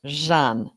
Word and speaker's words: Jeanne: I'm doing great except my name is pronounced Jean and I didn't tell you that oh well see I